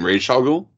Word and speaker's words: Ra's al Ghul: You mean Ra's al Ghul? Yeah, I know I'm saying it wrong, but it's fine. No one ever says it right. No, I say it right.